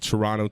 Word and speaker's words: Turono: Turono Talks, and don't pronounce the T, motherfucker. Turono Talks, baby.